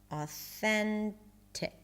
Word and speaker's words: authentic: Now let's try how to pronounce authentic.